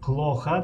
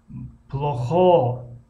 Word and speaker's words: плохо: хоб дар ин ҷо нигоҳ кунем, дар болои калимаи плоха дар ҳиҷои аввалаш ударение омадааст. ин аломате ки яъне ду хат омадааст ва як хати реб ё ки нимпаҳлӯ бигем, далолат ба он мекунад ки ударение дар ҳиҷои якум аст. плоха, плоха, плоха. агар ударение дар ҳиҷои дуюм биёяд, яъне аз пеши худ монем плохо, плохо, пас нодуруст аст тарзи талаффузш.